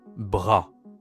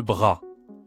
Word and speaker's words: bras: Ici pareil, le S ne se prononce pas.